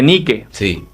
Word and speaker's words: Nike: saben esa historia pero el nombre Nike se escribe nique bueno niquee es el nombre de una antigua diosa griega que era la Diosa del